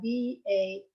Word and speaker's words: vafler: it, you realize that waffle is in Norwegian is spelled V-A-F-L-E-R, Vafler. They don't, Norwegians, as you know, don't pronounce L's.